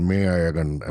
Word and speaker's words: Meiyazhagan: this is a movie called Meiyazhagan, which Sachin pronounced perfectly correctly.